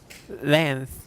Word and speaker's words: length: say ver variation in length lengths length there's a k in there length length i'll explain